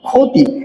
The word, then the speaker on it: ক্ষতি: ক্ষতি। এই ক্ষতি শব্দের ক্ষীয় কোথায় রয়েছে? ক্ষীয় নিশ্চয়ই প্রথম বর্ণে রয়েছে। আমরা শিখে ফেলেছি অলরেডি। ক্ষীয় যদি শব্দের প্রথম বর্ণে থাকে তাহলে তার উচ্চারণ হয় ক্ষয়ের মতো, তার উচ্চারণ হয় ক্ষয়ের মতো।